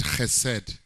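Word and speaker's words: hesed: a hebrew word in the old testament called he said h-e-w-s-e-d now in a hebrew you pronounce it like a a man from kamehameha you call it he said and even if it's like that so loving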